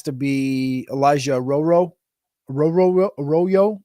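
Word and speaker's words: Arroyo: Football purposes has to be Elijah roro roro aoo aoo the tight end from um the the Miami um hurricanes he goes by it's spelled like a Royo like what he say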